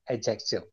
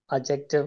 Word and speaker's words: adjective: It's adjective. Adjective or adjective. Da is silent.